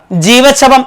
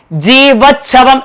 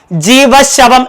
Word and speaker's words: ജീവച്ഛവം: സാധാരണ നമ്മൾ ഈ പദം ഉച്ചരിക്കുന്നത് ജീവച്ഛവം എന്ന് തന്നെയല്ലേ? ഉച്ചരിക്കുമ്പോൾ ജീവച്ഛവം എന്നാണ് നമ്മൾ പറയുക, അല്ലെ? അതായത് ച എന്ന ഖരവർണം, ആ ഖരവർണത്തിന്റെ ഉച്ചാരണം തന്നെയാണ് അവിടെ ശക്തമായി നമ്മൾ കേൾക്കുന്നത്. പക്ഷേ പലപ്പോഴും അത് എഴുതി കാണുന്നത് ജീവശവം എന്ന രീതിയിലാണ്, അതായത് ഷ എന്ന ശബ്ദത്തിന്റെ ഉച്ചാരണത്തോടുകൂടെ. അതുകൊണ്ട് തന്നെ ഒട്ടനേകം കുട്ടികൾ സി ഓപ്ഷൻ ടിക്കിയതായിട്ട് കാണുന്നുണ്ട്.